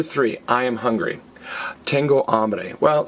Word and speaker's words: hambre: I am hungry tengo hambre well see the word ham if you want a hamburger you're probably hungry or if you want a ham sandwich you're probably hungry now don't get confused a